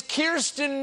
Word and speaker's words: Kirstjen: I will remind you, your name is Kirstjen Nielsen with a silent J.